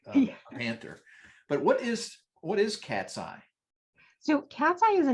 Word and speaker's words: Katzcy: In fact, I should ask a bit about your company, Katzcy. That's an interesting name because it sounds like a cat's eye, but you don't spell it that way.